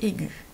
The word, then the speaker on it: aiguë: là je vois que si je me contente d'ajouter un ea aiguë ça va se prononcer aig donc j'ai besoin du très mal pour montrer qu'il faut prononcer aiguë deuxième astuce bien connaître